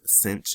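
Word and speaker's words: sinh: we have what are called hyperbolic sine or cinch right with this h it's actually called cinch is how it's pronounced and we have hyperbolic cosine which is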